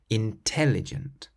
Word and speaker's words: intelligent: For example, if you say the word intelligent out loud, you'll notice that you stress the tel part in the middle, intelligent. If you were to stress a different syllable, it wouldn't quite sound right.